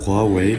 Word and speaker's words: Huawei: Depuis un peu plus d'un an, mon téléphone est un Huawei, ou prononcé à la chinoise Huawei.